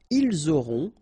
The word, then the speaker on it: auront: liaison here, vous aurez, ils auront, final T not pronounced, elles auront.